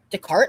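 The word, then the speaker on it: Descartes: Decart. That's how you say that. That's how you pronounce it. Yeah. Decart. Oh, so the S is silent.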